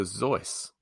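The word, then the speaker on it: Seuss: and it's by dr zoice who apparently pronounced his name to rhyme with rejoice do you mean reduce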